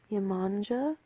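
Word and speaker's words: Yemanjá: don't wanna all right it has two ways to pronounce this Oh so Yemanja that's the first one so this is golden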